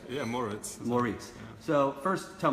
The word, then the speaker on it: Moritz: Did I pronounce that right? Yeah, Maurice.